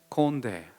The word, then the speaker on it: 꼰대: 무슨 발음인지 아시나요? 콘데.